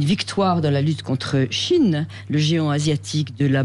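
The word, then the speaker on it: Shein: Moi aussi je disais Shine, mais c'est Chine, c'est le géant chinois de la fast fassion. D'accord. Ça s'écrit S H E I N.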